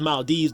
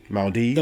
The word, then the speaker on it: Maldives: It's not Maldives, it's Maldives. I'm like, how? There's an E after the V. The E is silent.